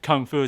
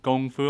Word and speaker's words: kung fu: He's like, I said kung fu. So like, don't you mean gong fu? I was like, oh, I should have pronounced it that way.